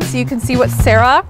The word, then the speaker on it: Sarah: renau agreed and made the sarah rhymes with zara to accommodate those requests